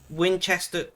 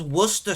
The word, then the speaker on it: Worcester: Winchester. What is Winchester sauce? I have never heard of Winchester sauce. There's Worcester sauce, if that's what you mean.